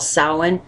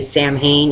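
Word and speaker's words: Samhain: thing like H okay Halloween is is called sa it's pronounced sa but it's actually spelled s a m h a i n a lot of people don't understand they say sam Hayne it's not Sam Hayne it's sa and that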